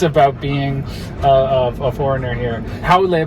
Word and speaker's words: haole: Haole, by the way, which is a word you'll hear all the time, often mispronounced as haole.